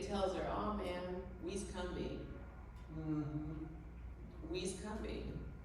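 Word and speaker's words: Combahee: And people of the region pronounce the river in the same way, Cumbie.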